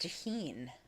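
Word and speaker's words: Tajín: She said it's pronounced tahine. Oh, I didn't realize that. It's a Mexican seasoning of chili powder and lime that's popular to put on mango and watermelon.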